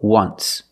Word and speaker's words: once: once but you say there's an o in once that's a vowel but phonetically it's not a vowel phonetically it makes the sound like a w o once so phonetically the t is between consonants so it's silent link to sounds just once there's no t just once example they